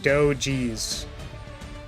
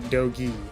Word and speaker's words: Dogees: My name is pronounced Dogees, not Dogi. Okay. Dogees. Got it. I'll remember, like, Dojin Cheese. So, like, kind of like Dogees.